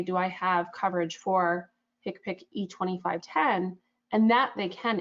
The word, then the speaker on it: HCPCS: So the sample I included here, HCPCS, we pronounce that HCPC, code E2510, that is the